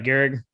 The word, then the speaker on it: Gehrig: I said it right, Gehrig. Correct.